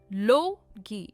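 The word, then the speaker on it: logy: लोगी, इसकी प्रोनाउंसिएशन है लोगी। स्ट्रेस जो है वो लो पर है और ये 2 syllable वर्ड है।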